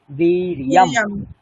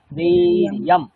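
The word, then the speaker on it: वीर्यम्: দেখুন, আমরা জ বলবো না, সংস্কৃতে একটাই জ, সেটা হচ্ছে চ ছ জ। আর এটাকে আমরা কি বলবো? য়, বীর্যম। বীর্যম।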